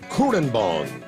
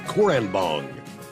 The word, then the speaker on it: Kurrenbong: You said it is pronounced Kurrenbong, which actually means water over rocks in the local Aboriginal language. Water over rocks. All right, Kurrenbong.